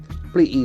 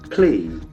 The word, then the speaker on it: plea: Plea is a very interesting word in terms of its pronunciation. It has got a long E sound. Plea. Plea. That P is very interesting.